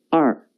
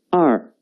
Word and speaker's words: 二: The pronunciation is 二. 跟我读二.